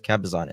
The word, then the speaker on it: Cabazon: I keep saying it wrong. Okay, it's Kabazon S.